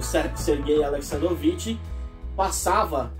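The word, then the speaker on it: Сергей: era Sérgio aleksandrovitch mas a pronúncia em russo dessert é fica a ser gay né Por causa das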